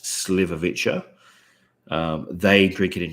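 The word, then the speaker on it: šljivovica: so they pronounce it it looks different to how it is pronounced but it's pronounced sliverwitcher um they drink it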